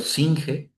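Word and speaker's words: Senge: de Peter Singe. Así se escribe, así se pronuncia y es un libro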